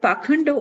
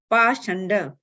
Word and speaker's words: Pashanda: The word Pakhanda was in the verb, sometimes pronounced Pashanda.